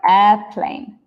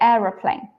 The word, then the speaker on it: aeroplane: spelling the Americans write airplane like this we write Aeroplane and that's the same as how I pronounce it I I don't say airplane I say eror plane eror plane eror plane okay all